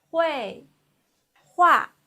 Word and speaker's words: 绘画: 绘画喝微 the fourth tongue 味喝味会喝乌啊 the fourth tongue 啊喝乌啊画 So together it's 绘画 Please repeat. 绘画绘画 This means painting.